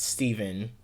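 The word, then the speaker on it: Stephen: I hate how ph like I hate how we're taught ph is f is f pronounced fu, but like somebody's name is pronounced Steven and it's ph.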